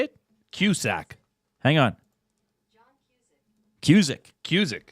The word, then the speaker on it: Cusack: Hang on, I'm trying to play pronunciation of Cusack. How do you say it? Cusack. Hang on. Cusick. Cusick.